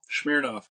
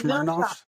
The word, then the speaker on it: Smirnoff: Well, I need you to tell me how to pronounce this vodka's name. Smirnoff. It's Mersh. It's Mersh. No, it's off. not. Smirnoff. It's Smirnoff.